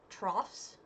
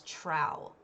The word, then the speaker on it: trough: of where i'm from i always thought that word was trow it's trough i'm a dumbass okay